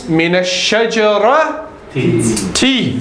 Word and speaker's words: مِنَ الشَّجَرَةِ: But as you know, because sheen is from harufu shamsiyah, from the sun letters, you don't pronounce the lam anyway. Yeah. So it becomes minash shajara t.